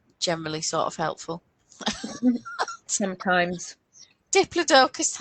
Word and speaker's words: Diplodocus: know you know I always called it uh diplodicus but you know what does I always said diplodicus and then somebody on the BBC said Diplodocus Diplodocus yeah no dioicus but then the same